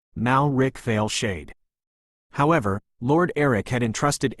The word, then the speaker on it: Malric Veilshade: Neither the Blade Lords nor the broader estate could fully support their efforts concerning Malric Veilshade, pronounced Malric Veilshade.